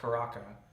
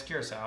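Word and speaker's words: Curaçao: Curacao is an island off the coast of a country, not Caraca or whatever. There's a lot of different pronunciations. Yeah, but it's Curacao.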